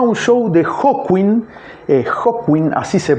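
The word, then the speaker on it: Hawkwind: eh fue a un show de Hotwin, eh Hotwin, así se pronuncia, la banda que en la que estaba Lemi previo a Motorhead, eh, y Lemi le firmó un autógrafo.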